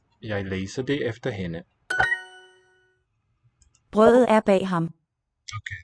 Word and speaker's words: brødet: Brødet er bag ham. Okay, the bread is spelled with ø. Brødet. And the weakened D colors the vowel, the bread.